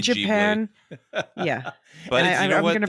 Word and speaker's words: Ghibli: that there was a documentary film about Studio Ghibli. What are we calling it? I say Ghibli. All right. You know what? I'm going to say Ghibli. I know in Japan they say Japan, Ghibli.